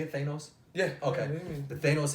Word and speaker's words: Thanos: Is that how you say it, Thanos?